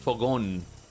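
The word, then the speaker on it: fogón: There's a saying in Spain called um fogon, which is like a grill.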